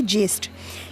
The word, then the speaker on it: ज्येष्ठ: अगला है आपका ज्येष्ठ, जिसे कुछ लोग जेठ भी बोलते हैं, पर उसका सही प्रोनाउंसिएशन और लिखने का तरीका है ये ज्येष्ठ।